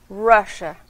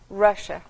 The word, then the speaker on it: Russia: Rússia, em inglês escrito é a mesma coisa, mas a pronúncia é diferente. Russia, começa com R, Russia.